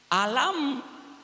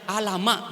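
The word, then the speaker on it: ألم: Alam. Alam taro kaifa fa'ala rabbuka. Ini bukan bacanya alama, bukan. Alama.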